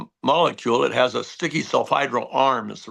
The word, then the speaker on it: sulfhydryl: It has a sticky sulfhydryl arm, is the right way to say it.